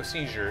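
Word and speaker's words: Szczur: No, Seizure. That's how you pronounce it. I know he's played for the Cubs. I love Matt Seizure. He's awesome. It's spelled SZRCZUR.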